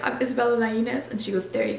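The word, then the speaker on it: Lainez: i n e z reading it most people say Lane but that's incorrect um so a lot of times what I tell people is just LZ but when my dad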